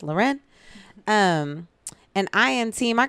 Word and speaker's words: Lauren: a fancy so it's about like Lauren it's pronounced Lauren and I am team I got my own